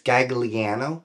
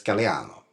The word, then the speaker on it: Gagliano: people immediately believe it's Gagliano, but it's Gagliano, right? Gagliano. I went to Sicily, which is where my family is from. Okay. Just to confirm how to say my name.